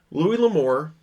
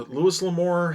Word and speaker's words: Louis L'Amour: Louis L'Amour, or Louis L'Amour, however is actually the correct pronunciation on that.